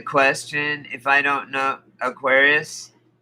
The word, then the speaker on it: Urantia: if i don't know aquarius yeah that's how you say it but it's spelled the way i put it you u-r-a-n-t-i-a it means it means